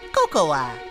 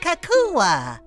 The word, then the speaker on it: cocoa: they chose a flavor I've never heard of cocoa Kaka kakoa it's pronounced Coco oh I love Coco new from